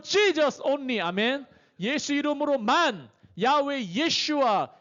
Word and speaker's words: 야훼: 이 중간에 모음을 넣으면은 여기다가 요드해 바브해에다가 중간에 모음 넣어서 야훼라고 하는 거예요. 야훼. 또는 영어 발음으로 하면 여호와라고 하는 거예요.